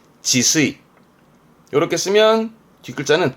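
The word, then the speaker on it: 自炊: 이걸 또 이렇게 쓰면 이게 자취죠 자취생이 자취 발음은 지수이 지수이 이렇게 쓰면 뒷글자는 밥 반짜라 취반이라 발음을 쓰이향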